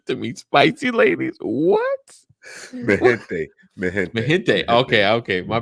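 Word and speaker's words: MiGente: No, that's how you pronounce a G in Spanish. G in front of a vowel.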